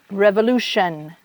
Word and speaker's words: revolution: Le T-I-O-N, the T-I-O-N is like shun, revolution, Revolution, evolution, evolution, inflation, inflation, nation.